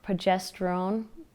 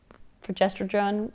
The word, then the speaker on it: progesterone: But I did have a really good friend tell me about, and I always say it wrong, progesterone. progesterone. It's not progesterone, it's progesterone, whatever, progesterone pills.